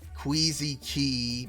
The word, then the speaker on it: Queezy Quay: Oh, I guess it's Queezy Key, but it always just sounds so wrong to me pronouncing it like that, even if it's supposed to be the proper sort of pronunciation.